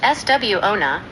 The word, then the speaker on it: suona: The suona, pronounced SW-ona, was a quintessential war instrument.